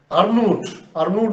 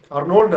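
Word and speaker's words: Arnaud: അർണൂഡ് എന്നാണ് അദ്ദേഹത്തിന്റെ പേര്. അർണോൾഡ് അല്ല, ഫ്രഞ്ച് ഉച്ചാരണമാണ്.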